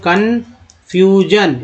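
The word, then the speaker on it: confusion: Next देखिए, भ्रम की स्थिति को बोलते हैं कन्फ्यूजन, एस आई एन को जन बोल जाता है।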